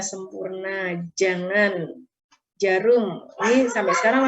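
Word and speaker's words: Sampoerna: Sempoirna dibaca sempurna, jangan, jarum.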